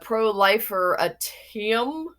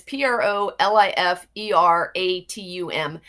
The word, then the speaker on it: proliferatum: There's a Proliferatium, and it's Proliferatum.